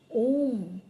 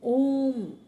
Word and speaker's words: ওম: হয়েছিল ওম নিয়ে দেখবেন আমরা যখন ওম উচ্চারণ করছি তো ও আপনি দেখুন আপনার জীব নড়ছে না ও জীব কিন্তু তালুতে ঠেকছে না ওম যখন বলছেন একদম